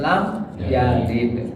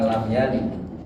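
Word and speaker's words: لم يلد: majzum itu mati dia asalnya yalidu karena diawali oleh huruf jazam lam maka bacanya jadi lam yalid bukan lam yalin ya itu untuk kata kerja nanti.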